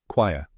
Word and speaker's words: choir: The correct pronunciation is quire, rhyming with flyer. Let's break it down, step by step. The first part is quay, like Y, with a K sound in front.